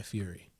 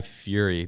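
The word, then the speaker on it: Fieri: the club and he he's dressed like guy Fury oh it's like gu Fury and he's he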